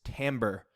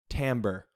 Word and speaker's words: timbre: have this word so it looks like timber like a tree but it actually turns out that the way it's pronounced is timbre say it with me timbre so timbre is the